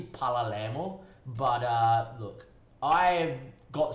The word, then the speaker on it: Palermo: the sort of thing i know i say parliament it's actually pala lamo but uh look i've